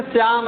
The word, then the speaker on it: श्याम: जैसे श्याम है ना, ऐसे है तो कहते श्याम नहीं, श्याम है, श्याम, यानी दंत स के स्थान पर तालव्य स का प्रयोग कराना।